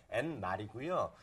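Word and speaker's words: Eenmaal: 입말이라고 그냥 쉽게 읽으시면 되는데 실제로 그 발음을 정확히 하면 N말이고요.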